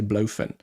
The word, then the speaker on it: Blowfin: Oh, and Andy mentioned the name today, the correct pronunciation. I just say Blowfin.